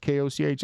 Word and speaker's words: Koch: It is not brew soda, so therefore it is not Coke. It's Koch. The Koch brothers, right, are K-O-C-H. They're spelled K-O-C-H.